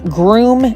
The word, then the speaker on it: Groome: There's Groom Transportation, which is spelled Groome.